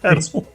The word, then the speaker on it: Weddle: So apparently I've been pronouncing Chris's name wrong. It's Weedle that rhymes with Peedle. Oh, no, Pedal. Pedal. Weddle. Pedal. Whoa. Hello. Hello. PG again. Pedal rhymes with pedal. Pedal. Pedal. As in a bicycle. Yes, I know.